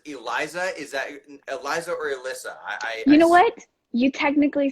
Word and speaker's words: Elisa: Is that Elisa or Elisa?